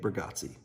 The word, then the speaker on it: Bargatze: how you say his last name burger Nate bargatze enjoy this next comedian were bringing to the